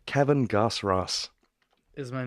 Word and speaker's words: Goss-Ross: going here having the gospel all right Kevin gasps rose is my name I didn't make it up